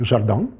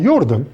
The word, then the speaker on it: Jordan: Of course, there was the French mathematician Camille Jordan, who is pronounced in Russian like Jordan. Well, that depends on how French you try to sound, but the N is sort of slightly there, but not quite there.